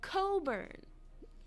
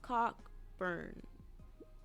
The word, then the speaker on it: Cockburn: and go lot smirks it's pronounced Coburn Wilma cockburn I certainly hope not and I'm the maid